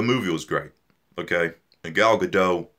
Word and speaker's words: Gal Gadot: was great okay a gal gadot goodell gal good gal gal gadot is that how you say it yeah she is Wonder